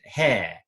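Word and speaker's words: ἡ: a sound but because of breeding mark we pronounce it hair hair is a definite article oh this very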